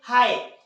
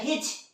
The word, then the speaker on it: high: उसी तरह से हाई, HIGH, इसे पढ़ना चाहिए हिच, पर हम लोग हिच पढ़ते हैं, डेफिनेटली नहीं, इसे क्या पढ़ते हैं हम लोग, हाई, तो केवल H और I का प्रोनाउंसिएशन है ना।